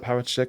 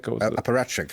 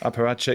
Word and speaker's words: apparatchik: How do you say that word? Parachik? Apparatchik. Apparatchik.